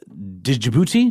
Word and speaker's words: Djibouti: Um, Algeria, Azerbaian, Bosnia, uh, Djibouti, Djibouti, yes, that's a the D is silent.